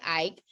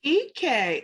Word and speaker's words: Ike: It looks like Ike, but it's actually pronounced Ike, like the letters E and K. Ike.